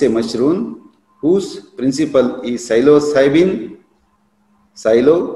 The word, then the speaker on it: psilocybin: And Psilocybe mexicana is a mushroom whose principle is psilocybin. Silo, P is silent here, psilocybin is a tryptaminergic compound.